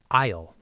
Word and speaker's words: aisle: It is spelled a i s l e. It looks like a aisle, but the s is totally silent. It's just isleisle, like I will.